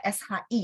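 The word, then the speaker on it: 十: 10 nada berapa, teman? 10 nada 2 ya, dan dia SHI ya. 10, 10. Oke, 10 itu 10 dan nada 2.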